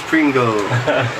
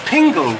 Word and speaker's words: Pingle: There we go, the Danish Pringle. Ah, because it's Pingle. It's Pingle. Ah, you know what? I've been saying Pringle. Everybody pronounces Pingle.